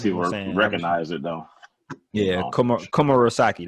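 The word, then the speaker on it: Komurasaki: Yeah, Komurosaki. That's how you say it, I think.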